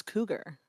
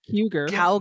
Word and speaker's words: cougar: then how do you sound how do you pronounce cougar cougar kind of the same sound isn't it you wouldn't you don't go couger different different root languages weird comes from French